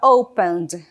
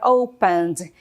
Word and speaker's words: opened: The door opened. The door opened. Aqui no caso, né? A letra E é muda. Não falo opened, tá bom? É opened.